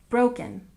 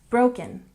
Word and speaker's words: broken: And broken, we stress the first syllable, broken, broken.